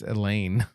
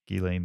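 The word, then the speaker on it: Ghislaine: recognize the name because her name is spelled like with a GH yeah so I didn't know it was pronounced Elaine oh is it I always thought I was I just it's like pH music Elaine or something okay yeah Elaine Maxwell I think is how you say it um all right anything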